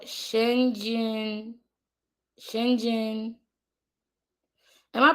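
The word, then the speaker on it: Schengen: Uh, the English dictionary says it's pronounced Shang N. Shangen.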